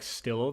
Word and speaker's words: Stylo: You pronounce stylo like Stillo. The stylo the pencil brand.